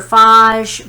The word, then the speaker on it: phage: viruses so the phage and it's phase or faj bacteria phage bacteria v doesn't matter to me how you say it but remember that it